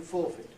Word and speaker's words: forfeit: But as I say, with verbs, the only ones I could find that are stressed on the first syllable, stressed on the prefix, were contact, comment, conjure. That's conjure, by the way, it's the cup vowel, promise, perjure, and forfeit.